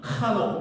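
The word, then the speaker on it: חנוך: 그래서 그 이름의 뜻을 한번 보면은 에녹이라는 건 한옥이라는 말인데 원래는 강하게 발음합니다. 한옥 이렇게 발음해야 되는데 한옥이라고 합시다. 한옥이라는 이름을 갖고 있는 사람인데 이게 라틴어로 바뀌어지면서 에녹이라고 사람들이 좀 약하게 발음을 하게 돼요.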